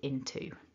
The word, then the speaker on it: into: end of the sentence you're much more likely to hear people using the stronger form to get my teeth into so that's just an